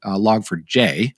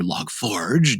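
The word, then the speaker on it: Log4j: had installed log for log for J sorry or log Forge depending on your pronunciation um so it's to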